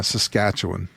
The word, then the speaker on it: Saskatchewan: for a photographer it's called um Everett Baker's Saskatchewan do I pronounce that correctly I hope yeah Saskatchewan Saskatchewan yeah okay there you go perfect Saskatchewan